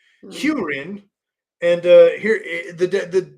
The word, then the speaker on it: Hurin: great hunt first off his his name is pronounced hurin h e w that sounds like some lawn talk i n hurin and uh here the the the definition is